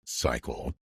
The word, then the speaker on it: Pychyl: Tim Cycle, that's how you pronounce this guy's name, Pychyl, puts it, all procrastination is delay.